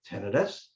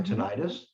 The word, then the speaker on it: tinnitus: perfectly for someone with tinnitus or tinnitus however you want to pronounce it yeah um there